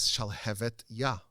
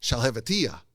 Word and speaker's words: Shalhevet Yah: The name of the book is Shalhevet Yah, which means the flame of God. And everyone would mispronounce it as Shalhevetiyah, which means nothing, which is just gibberish.